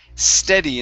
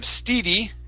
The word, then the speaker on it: steady: okay next up is the word steady instead of steedy it is steady steady